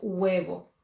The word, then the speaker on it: huevo: 3 4 5 letras la primera letra es h y es silencioso en español no es no se dice el juego dice web se comienza con el sonido de la uba un huevo y nosotros